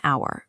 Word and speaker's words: hour: While it begins with a consonant letter, it's pronounced with a vowel sound.